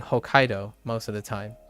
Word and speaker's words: Hokkaido: yeah I I uh although in English it's still the second syllable but there's no T there's no small T right so it it Hokkaido Hokkaido is still on the same the in the stress emphasis is still on the same syllable so to speak like you you'll naturally